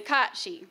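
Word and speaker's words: cat-sìth: So the Celtics, if you don't know, that's Scotland area, and they worshipped a fairy creature called the Catshi. So that's the correct pronunciation, Catshi.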